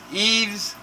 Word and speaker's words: Yves: It's somebody else's problem, even though it's happening now. And Bitcoin, when they looked at, they did, how do you spell Yves? Y-V-E-S? Eves? Y-V-E-S. How do you say it? Yves Saint Laurent. Eve.